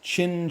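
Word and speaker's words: Qin: Chinese banjo called a Well, let's see what Wikipedia has me pronouncing it as. A a kin. It's Chin Chin.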